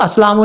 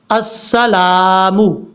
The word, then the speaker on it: السلام: کے بعد ہے السلام، اس کو اسلام نہیں پڑھنا، السلام۔ اب اس کے بعد